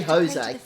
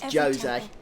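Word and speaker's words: Djose: Okay, so it's Jose. I'll try to remember that pronunciation. I always say Jose, but it's Jose.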